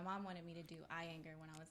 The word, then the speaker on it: Iyengar: She did some research, found out that Iyengar yoga is really good, which is like How do really you you're pronounce just it? Iyengar? Iyengar.